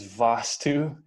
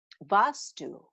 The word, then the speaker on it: Vaastu: I'm sure everybody is wondering what is Vaastu, and how we can incorporate it into the design of our home to make the energy flow better.